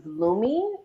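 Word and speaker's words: Lume: that caused the breakout now um i use lumi deodorant so i spell it there it is l-u-m-e um so gina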